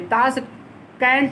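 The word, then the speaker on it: Tashkent: ताश कैंट लिखते हैं लेकिन उसको कंध हिंदी में पढ़ते हैं।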